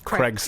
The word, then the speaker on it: Craig: that the way that the Americans pronounced the name Craig to rhyme with egg troubles me so weird